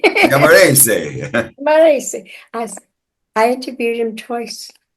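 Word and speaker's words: Giammarese: he says, "Oh, good, you're Italian now. You say it right." Camarese.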